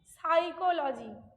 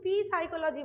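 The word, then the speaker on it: psychology: For example লিখছি আমি সাইকোলজি, এই সাইকোলজি স্পেলিংটা যে জানে না, যেখানে পি এর উচ্চারণ হয় না, সে কিন্তু পি সাইকোলজি বলবে।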